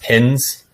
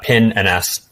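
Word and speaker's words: pinns: pin and s uh it's not pronounced pins so i've capitalized it but it's a pin ns so that it currently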